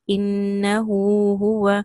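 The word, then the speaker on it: إِنَّهُ هُوَ: So as per Hafs and Asim, when you read this, you have in pronunciation, you have a split, you have a break. Innahu huwa. So the ha and ha is not being pronounced together. We'll see coming soon on how the pronunciation is.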